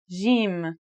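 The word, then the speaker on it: جيم: in Standard Arabic and Syrian Arabic it should sound like the J in the word Jam while in Egyptian Arabic it sounds like the G in the word game they're both quite easy to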